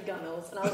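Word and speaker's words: gunwale: like yeah yeah this I think it also spelled gun whales and I remember someone afterwards I think that's how I was pronouncing it initially being like it's actually guns and I was like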